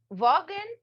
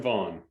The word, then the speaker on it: Vaughan: Vogen. I think I'm saying it right. Vaughn. Vaughn. Okay. So, the G is silent.